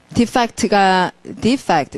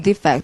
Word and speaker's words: defect: defect 명사로는 defect, 동사 defect 하고 그래서 탈출하다는 뜻이 있기 때문에 탈주자를 발음하시면 defect라 하고요.